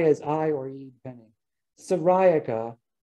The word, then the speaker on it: syriaca: i or you depending ceriaca is how i say the uh specific epithet for um common milkweed asclepius sariaka or you could say syriaca if you wanted to